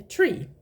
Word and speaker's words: tre: The pronunciation is exactly the same as the number 3, but when we put the tree, tre, together with other words, it becomes tra.